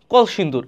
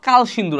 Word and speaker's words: কলসিন্দুর: বাই the girls of কলসিন্দুর এখানে দেখো এখানে উচ্চারণটা কালসিন্দুর আসে কিন্তু আসলে না এটা কলসির কে ও এল এটা আমারও মাঝেমধ্যে এলোমেলো